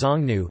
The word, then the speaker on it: Xiōngnú: The Chinese characters are pronounced as Xiongnu jnu in modern Mandarin Chinese.